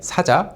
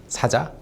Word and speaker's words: 사자: Saja, a lion. And the boy band uses lion logos everywhere. But when you pronounce it like Saja with a long vowel, it actually means an envoy or emissary.